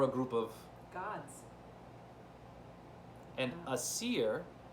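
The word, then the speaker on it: Æsir: group of God and a Seer sounds kind of like Aries it's spelled a-e-s-i-r the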